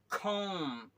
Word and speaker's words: comb: Okay, अब आइए यहाँ पे COMB, तो ये वाला जो है बी है, यहाँ पर आपका साइलेंट है, देखिए, कॉम, कॉम, कॉम।